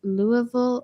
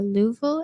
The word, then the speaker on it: Louisville: Lewisville is constantly being pronounced in different ways around the world. The most common way locals say it is Louisville or Louisville. Anything else is going to get weird looks.